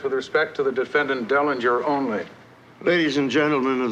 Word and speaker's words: Dellinger: defendant Derringer I think their honor means Dellinger Dellinger that's right Mr Dillinger said we must issue I'm going to get back to you Mr wittens I mispronounced the defendant's name you said diligent it's Derringer we were both wrong you mean